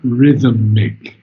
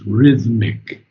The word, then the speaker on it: rhythmic: Tra- And the second one is something that most people get wrong. It's not rhythmic, it's rhythmic.